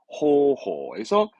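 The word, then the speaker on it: 方法: 발음은 호호에서 이 방자는 음으로 기본적으로 호로 갑니다. 그래서 호호. 방법의 호호, 호호.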